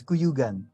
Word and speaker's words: Cuyugan: Um, my guest today is Kuyuigan. Sorry, do I pronounce this correctly? Kuyugan? Kuyugan. It's Kuyugan.